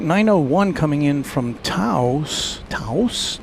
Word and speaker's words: Taos: Taos. Taos. It's only one syllable.